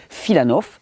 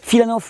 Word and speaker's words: Filanov: Il y a quelqu'un qui a beaucoup travaillé sur le jeûne, c'est un docteur russe qui s'appelle Sergueï Filanov, ça s'écrit F-I-L-A-N-O-V, mais ne courez pas sur Internet, vous allez trouver très peu de littérature.